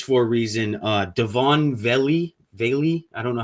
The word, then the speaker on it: Vele: Uh Devoni, Valey, I don't know how you say his name. Veil Vele.